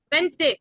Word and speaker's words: Wednesday: ये तो अभी मैंने आपको पढ़ाया था, तभी आपको इसकी प्रोनाउंसिएशन ठीक करवाई थी. Still there is a issue. Sixth one. Wednesday ना. वेंसडे.